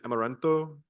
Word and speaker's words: amaranth: that plant is amaran a m a r a n t h amaranth yes sound per yeah in in Spanish it's amaranto and there's an there's